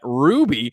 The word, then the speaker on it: RWBY: currently creating a rwby i believe they pronounce that ruby outdoor mural that you